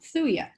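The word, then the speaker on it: Thuja: there's a homeopathic remedy called um thulia right t h th for those of you who you know the j is silent and um basically i'd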